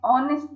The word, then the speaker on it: honest: Now here you should notice an honest man. Here H is silent.